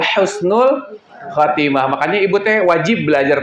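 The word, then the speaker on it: حسن الخاتمة: Kalau husnul khatimah pakai kho, itu artinya jauh, ya. Istilahnya itu al-azil ba'dal iz. Artinya hinanya sesuatu yang sebelumnya mulia. Kalau pakai huruf kho, ya. Makanya pengucapannya harus betul, harus ha, ya, husnul khatimah.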